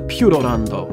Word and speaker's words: Puroland: Here's some broken video with no audio, but I was just saying we were going to Purorando, which is actually how you say it.